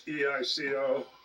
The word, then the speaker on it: EICO: I just I was calling it Echo for a while, but it's EICO and it's model 625.